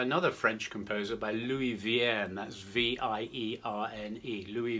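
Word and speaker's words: Vierne: vein is by another french composer by louis vien that's v-i-e-r-n-e louis vienne who wrote six organ symphonies and this is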